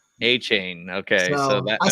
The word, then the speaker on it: Achane: to say Akine, but now everybody I hear everybody say A-Chain. A-Chain.